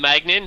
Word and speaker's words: Maignan: But we can call him Magnan, so he's a great keeper.